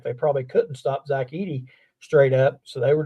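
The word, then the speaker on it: Edey: interesting to watch um Eddie Edy I think is the way you pronounce the name Zach Edy and cling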